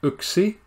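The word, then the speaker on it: yksi: 1, don't mind what that looks like. It's pronounced uksi.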